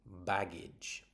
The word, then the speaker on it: baggage: So this word is baggage. Baggage. So the g is a hard sound like girl and the g e is a soft sound like the word jazz.